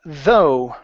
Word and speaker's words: though: uh next up we have the word uh though right here so even though even though yeah